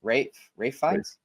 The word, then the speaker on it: Ralph Fiennes: Next, let's go to Best Actor, and the nominees are Ralph Fiennes, Conclave, Rafe. Hugh Grant, Rafe Fiennes. It's pronounced Rafe, yes. Damn it! It's spelled Ralph, motherfucker.